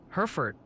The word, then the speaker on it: Hereford: Oh, and friendly tip from the Peanut Gallery, they're adamant it's pronounced Hereford County, like the cattle.